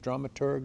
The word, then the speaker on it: dramaturg: your stories differently differently Todd so on the dramaturgy question you have this unusual position of not really being a drama Church how do you pronounce that is it dramaturg a drama yeah dramaturg yeah dramaturg Todd is